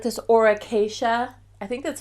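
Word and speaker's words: Aura Cacia: If you don't have access to her or to that brand, I like this Auracacia.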